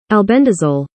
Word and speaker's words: Albendazole: We're going to go to the pronunciation right here because I am. Albendazole.